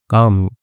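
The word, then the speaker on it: calm: ठीक है, ठीक है, कालम नहीं पढ़ते हैं, काम, एल साइलेंट होता है, शांत करने में, द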